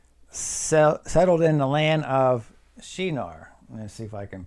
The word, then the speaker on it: Shinar: Okay, the pronunciation of this land is called Shinar, which means land between 2 rivers.